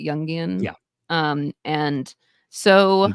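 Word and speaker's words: Jungian: very youngan that's how you say it right youngian yeah um and so it sure doesn't mean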